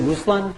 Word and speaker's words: Ruslan: Is it Ruslan? Is that how you pronounce the first name? Perfect. That's correct.